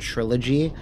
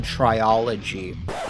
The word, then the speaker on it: trilogy: how to say it I thought it was called triology which makes no sense the L is not even where that would be if you were